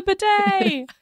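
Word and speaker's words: bidet: and it Rhymes too the Third Way is the betay that's a lot that's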